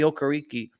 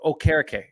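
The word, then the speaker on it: Okereke: how good they looked bobby okariki or oh carrick sorry i keep forgetting that he wants his name pronounced different bobby okerake had the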